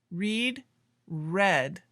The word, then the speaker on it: read: Cut, cut, put, read, read. Now look, the spelling is the same, but the pronunciation is different. Read in the present and read in the past sounds like the color red.